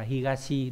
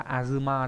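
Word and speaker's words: 東: đ đặc biệt là azuma đấy azuma có hai cách đọc là higashi với lại azuma trong đó là cách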